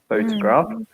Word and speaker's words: photograph: we were thinking because the stress changes in this one so we have photograph days photograph photograph stress on the first syllable photograph and photographer photographer and moves to the second so the person is a photographer and the thing is